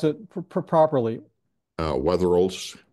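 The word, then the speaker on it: Wetherill: the weather Wheels the please uh yeah I pronounce it properly uh weather rols weather rols of the Four Corners region his great-grandfather John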